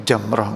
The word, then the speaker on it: jamrah: Kadang nek siki ningali tiang melempar jumrah niku jamrah nggih. Sebetulnya yang tepat bacanya itu jamrah nggih. Tapi wis kadung salah kaprah. Orang bilang jumrah.